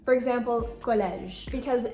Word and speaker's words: collège: When it's at the end of a word after a consonant, it is not going to be pronounced. For example, collège.